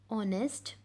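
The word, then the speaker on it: honest: Vipul is dash ऑनेस्ट boy. Vipul is, यहाँ पे मैंने आपको बताया था जो एच है वो क्या होता है, साइलेंट होता है।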